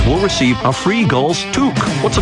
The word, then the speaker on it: toque: The first 8,000 fans will receive a free Gulls toque. What's a toque? I don't know, but it rhymes with kook.